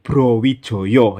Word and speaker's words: Brawijaya: raja terakhir bernama Prabu Brawijaya. Tapi cara bacanya menurut ejaan Mataram itu dibaca Prabu Browijoyo ya, meskipun tulisannya pakai A, tapi dalam ejaan Mataram itu dibaca O.